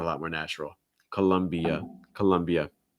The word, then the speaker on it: Colombia: the uh sound and something else that you can do to make the sound more natural is link the e uh so it's not e uh it's colombia columbia it's like adding like a y sound like between the i and the a that's just going to